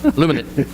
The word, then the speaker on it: Luminant: I talked to a guy today, it was Woodluminant, Luminant. I pronounced it wrong. Luminant.